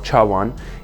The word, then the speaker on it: chawan: right so chasen is more japanese pronunciation if you want to be completely correct the tawan or chawan is especially flat because